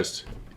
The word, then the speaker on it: ufologist: Ufologist.